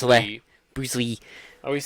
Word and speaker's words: Li: It's spelled L-I, but it's Bruce Lee.